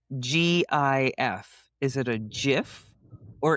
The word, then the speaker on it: GIF: I think GIF is a peanut butter. Exactly. Yes. Yeah. And it doesn't make the G sound. No. Right. It's a hard G.